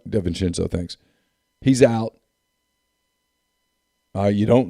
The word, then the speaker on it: DiVincenzo: DiVincenzo, thanks.